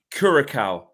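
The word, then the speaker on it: Curaçao: How do you pronounce that island, Flex? Curacao.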